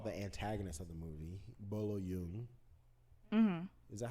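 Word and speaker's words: Bolo Yeung: antagonist of the movie, Bolo Yoon. Mm-hmm. Is that how you pronounce it? Bolo Yoon, you think? Bolo Yoon. Chinese. Bolo Yoon. I don't want you to pronounce it like Korean.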